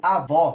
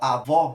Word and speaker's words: avó: é aberta ou fechada quando eu digo avó qual que seria a sílaba tônica a gente pode ver que nesse caso aqui ó avó ela é aberta então a gente usa o acento agudo porque a sílaba tônica